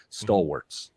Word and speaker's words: stalwarts: I can't say that word well because I want to pronounce the A at the end instead of saying stalwarts.